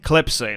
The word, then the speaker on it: Klepsina: Is it Slepsina? Klepsina, that's it. Klepsina, that's how you say it.